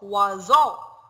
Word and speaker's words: oiseau: O, oiseau. O-I, we pronounce it like wa. O-I in French, we pronounce it, we say wa. O-I, we read it wa.